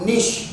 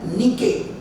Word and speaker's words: niche: ये शब्द दो प्रकार से प्रोनाउंस होता है। एक तो बोलते हैं इसको निश, या फिर दूसरा प्रोनाउंसिएशन है नीके। जो लिखा है वो नहीं है, नीचे नहीं है।